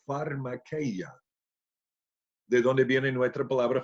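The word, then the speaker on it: φαρμακεία: Porque la palabra que ha traducida hechicerías en griego se pronuncia pharmakeia, de donde viene nuestra palabra fármaco, farmacia, farmacéutico.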